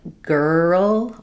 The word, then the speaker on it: girl: In a word like girl or world, because the R and L are right together, people don't always realize there's still a sound in between them.